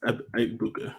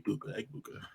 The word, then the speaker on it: Egbuka: I'm pretty sure he's of African descent, and one of the things with African names, they're almost always pronounced exactly how they're spelled. E-G-A-B-U-K-A, Egbuka.